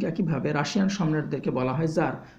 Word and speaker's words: tsar: এই গল্পে একটা চরিত্র আমরা পাবো, যে চরিত্রটির নাম এখানে দেওয়া হয়নি, কিন্তু সেই চরিত্রটাকে এখানে জার বলে উল্লেখ করা হয়েছে। TSAR উচ্চারণটা হবে জার।